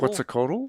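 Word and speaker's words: Quetzalcoatl: Can you pronounce that? Quzico. Quziconal.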